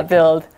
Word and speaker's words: build: built oh yeah yeah build so remember bill that does have a you but you don't say that you so don't forget that you okay uh would you